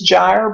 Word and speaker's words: gyre: You knew that this was gyre, but this was gimble, because GY makes the J sound, GI makes the G sound.